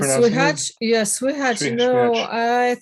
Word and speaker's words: słychać: Is it Szwihak? No, mispronouncing it? słychać, yeah, słychać.